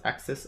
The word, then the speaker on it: AXS: axia infinity shards e axs pronounced axis i believe is an erc20